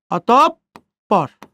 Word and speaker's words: অতঃপর: দেখেন এই যে বিসর্গ আছে, বিসর্গর পরে কি আছে? প আছে। বিসর্গ এর পরের বর্ণ 2 বার উচ্চারিত হবে। কয়বার উচ্চারিত হবে? 2 বার উচ্চারিত হবে। তাহলে বিসর্গর পরের বর্ণ কয়বার উচ্চারিত হবে? 2 বার। বিসর্গর পরে কি আছে? প আছে, তাহলে পর উচ্চারণ কয়বার? 2 বার। অতঃপর।